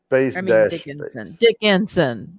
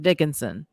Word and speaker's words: Dickinson: before dickerson yes okay dickenson oh god i said it wrong dickinson yeah all right yeah